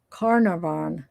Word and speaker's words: Carnarvon: to the um campsite it rhymes with car marvin bella thank you for that that mama mia okay car marvin so carnervon car narvin oh hold on one